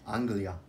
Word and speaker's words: Anglia: Anglia.